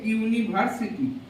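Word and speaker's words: university: vowel দিয়ে শুরু হওয়া কোন একটা শব্দ এ ইউনিভার্সিটি তাহলে ভাওয়েল দিয়ে শুরু হওয়া কোন একটা শব্দ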